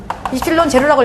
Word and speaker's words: 입실론 제로: 자 이거를 어떻게 읽느냐 이거를 입실론 입실론 제로라고 읽어요 입실론제로 입실론 제로라고 읽습니다 그다음에 자 이거 뭐라고